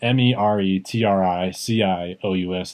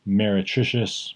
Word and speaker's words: meretricious: It's spelled M-E-R-E-T-R-I-C-I-O-U-S. That's M-E-R-E-T-R-I-C-I-O-U-S. It's phonetic, meretricious, meretricious, meretricious.